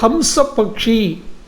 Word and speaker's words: ஹம்ச பக்ஷி: கல்வியின் தெய்வமாக இருக்கக்கூடிய சரஸ்வதிக்கு ஹம்ச பக்ஷி வாகனம் அதை நாம் அன்னபக்ஷி என்று சொல்லுகிறோம் சரியான உச்சரிப்பு ஹம்சப் பக்ஷி பிரம்மாவுக்கும் ஹம்சம் தான் வாகனம்